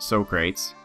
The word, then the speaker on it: Socrates: Right off the top we have Polat, or Socrates, and yes, it is pronounced Socrates, trust me.